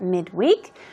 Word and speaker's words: midweek: So middle of the week is the definition of midweek. Midweek, midweek, okay? But usually, even when it's used as an adjective, the stress usually goes on the first syllable.